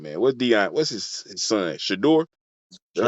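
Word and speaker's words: Shedeur: Shador? That's how you say it? Shador Sanders, Yeah, yeah.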